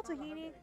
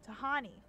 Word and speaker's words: Tahani: You're a call, Tahini. You're the boss. Tahani. I mispronounced the name. Tahani.